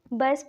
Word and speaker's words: batch: तो इसको हम बच पढ़ते हैं। क्यों पढ़ते हैं, क्योंकि ये इंग्लिश का रूल है कि जब भी टी के बाद CH आता है तो वह क्या होता है, जो टी है वह साइलेंट होते हैं।